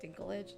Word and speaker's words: Dinklage: This movie is called Toxic Avenger and it stars Peter Dinklage. I think that's his name. Is that how you say it? Is it Dinklage?